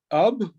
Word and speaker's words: Ub: His first name is Ub or Ub, depending on how you pronounce it.